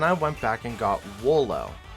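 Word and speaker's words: Wooloo: back and got Wolo I'm pretty sure that the proper pronunciation because I've found out his evolution name is dub wolf which sounds like double so it would make sense that wool Oh sounds like solo I know it's just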